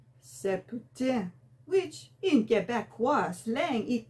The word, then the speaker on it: poutine: order it correctly, because the English, they say poutine. But if you want to be a true French-Canadian Quebecois, you pronounce it poutine, hein, n'est-ce pas?